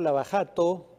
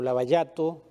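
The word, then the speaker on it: Lava Jato: se habla del caso la bajado o la barato porque así es como se pronuncia la jota en portugués el caso más sonado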